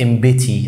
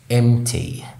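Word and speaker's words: empty: في كلمات زي فارغ اغلبنا بينطق كلمة ديت امبتي او امبتي او حاجة زي كده، لكن النطق الصح هو امتي.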